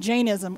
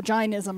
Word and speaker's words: Jainism: The last reading, the last candle, comes from Jainism or Jainism. I've heard it pronounced both ways, Jains or Jains, J-A-I-N.